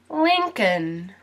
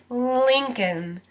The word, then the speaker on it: Lincoln: now his last name Lincoln Lincoln and you might notice that there's another letter that also does not get pronounced in this word and that's the L lean cun and if